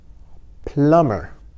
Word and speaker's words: plumber: C-I-A-N is pronounced shun. Electrician, electrician. Artist. Plumber, plumber, plumber, geyon B la dan, mais on va prononcer B a.